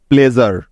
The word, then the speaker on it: pleasure: এবার লক্ষ্য করো, সবার শেষে বাকি রইল SURE, যার জন্য এখানে নিতে হবে জার, কেননা SURE শব্দের একদম শেষে আছে এবং তার আগে ভাওয়াল আছে, অর্থাৎ এস এর উচ্চারণটা জ হয়ে যাবে এখানে। তাই তো, নিয়মটা সবার মনে আছে তো? সুতরাং PLEA প্লে এবং SURE জার যোগ করলে হয়ে যাবে প্লেজার।